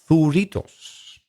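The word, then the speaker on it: zuritos: We maybe mispronounced it. Maybe we said zorra, zorrita, something. I don't know. No, zurritos.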